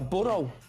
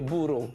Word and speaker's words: burro: Un burro. Burro. Hey, leave my dad alone, you donkey. I've never really been good at rolling my R's, but that was okay. Burro. Burro. Burro. Yeah. Rhymes with churro.